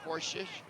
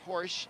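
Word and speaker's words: Horsch: 15 that's porsche i don't think i'm pronouncing her name right i'm going to have to ask my friend mick over here on the left side how to pronounce that girl's name how do you pronounce your name mick number 15 horse thank you i like to get the pronunciations right so horsh in the match there number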